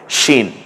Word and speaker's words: শিন: দেয়া হয় এই সিনে তাহলে হরফের নাম হয়ে যায় শিন শাক শীত শরৎ যে তলব যেটা আমরা ব্যবহার করি সে উচ্চারণ হবে শীত যেমন সেখান থেকে শিন